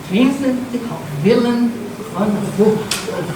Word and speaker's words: Vincent Willem van Gogh: Pela pronúncia em holandês? Não. Vincent Willem van Gogh.